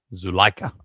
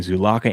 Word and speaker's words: Zulaika: Zulaika. I was saying Zulaka and Zulaika, but Zulaika.